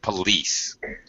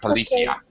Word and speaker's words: police: one small correction be careful of pronunciation of police not polia okay did okay um